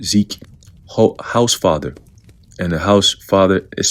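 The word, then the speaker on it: Hausfather: Quote, "The consensus is definitely shifting toward an even stronger event," said Zeke House Father. And the house father is spelled H A U S and then father, a climate scientist who is closely following El Nino model projections.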